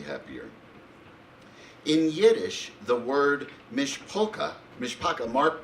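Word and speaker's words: משפּחה: In Yiddish, the word mishpaka, Mark, pronounce it for me? Mishpacha, just like Mark.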